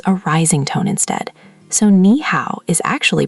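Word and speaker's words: 你好: Close enough that I'm impressed, but the Mandarin ow is rounder than the English how. Round your lips a little more at the end. How. How. How. Perfect. Now here's the magic, put them together. Nee how. Nee how.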